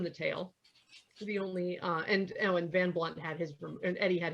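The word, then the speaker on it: Van Blundht: And it's this guy named Eddie Van Blunt, who sure, the H is silent.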